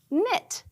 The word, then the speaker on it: knit: It, knit.